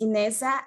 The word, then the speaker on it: Ineza: enable locally led adaptation my name is ineza and beth you did call you did the uh pronounce it correctly nasa come from a